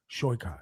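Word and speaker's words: Saikat: How do you so, pronounce his name? Shoykot? Shoykot.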